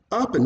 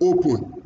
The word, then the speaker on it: open: So the word is open, open, not open, like we pronounce it, open. R is stronger than pen.